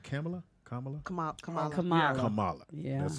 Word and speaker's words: Kamala: Kamala. Yeah, that's how you pronounce it.